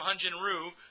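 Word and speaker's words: Hyun-jin Ryu: As we mentioned earlier, Hanjen Ru because we're now calling Hanjen Ru. That's how you pronounce it in Korean.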